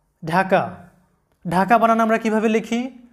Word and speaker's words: ঢাকা: এরপর মনে রাখবে যে ডি এর পরে এইচ থাকলে ডি এর উচ্চারণ ঢ অথবা ধ হয়, বাংলায় ঢ অথবা ধ এর মতো যে সাউন্ডটা সেটা হয়।